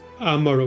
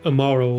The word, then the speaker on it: Amaro: Also, it's Amaro, not Amaro, like I've been spelling it. It's pronouncing it, I mean.